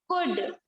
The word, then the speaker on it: could: जैसे यहाँ पर देखो COULD, तो देखो डी के पहले क्या आया है, एल आया है। यहाँ पर है ना DFKM, इनसे पहले जब एल आएगा, तो डी के पहले एल आया तो डी जो है वो साइलेंट हो जाएगा, तो यहाँ पर क्या हो जाएगा, सिर्फ कुड।